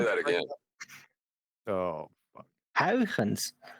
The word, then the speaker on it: Huygens: Huygens. That's how you pronounce it. Good luck. Go ahead, Brian. I just Say that again. Oh, fuck. Huygens.